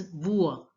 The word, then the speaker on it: bois: Here the last S is not pronounced. Generally the last letter of the word, as you know, is not pronounced, and OI is pronounced as ua. Ua. So it becomes bua.